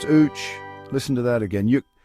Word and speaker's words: uç: In Turkish, the word for fly is UC pronounced ooch.